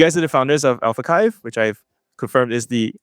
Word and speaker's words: AlphaXiv: You guys are the founders of AlphaXiv, which I've confirmed is the official pronunciation.